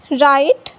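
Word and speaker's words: write: जब डब्ल्यू के बाद आर आता है तो डब्ल्यू साइलेंट होता है और साउंड केवल आर का मिलता है। जैसे यहां देखिए डब्ल्यू के बाद आर आया है तो डब्ल्यू साइलेंट होगा और साउंड केवल आर का मिलेगा तो र आइट राइट र ईस्ट रिस्ट र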